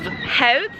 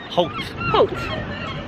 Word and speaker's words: Howth: it so they obvious they don't pronounce it held health it's hoped so it doesn't look